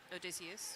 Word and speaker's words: Odysseus: where I confirmed their name is pronounced Odysseus. Thank you.